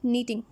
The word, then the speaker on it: knitting: Next है नीटिंग। अब ये नीटिंग क्या है, के साइलेंट है, ध्यान रखना है।